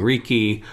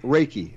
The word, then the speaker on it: Reiki: I call it Reiki. Yeah. Reiki.